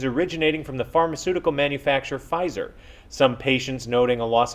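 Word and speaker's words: Pfizer: from the pharmaceutical manufacturer Fizer. Some patients noting a loss of hearing when urinating. Doctors have said there is nothing wrong with the patients. It's just that the P in Fizer is silent.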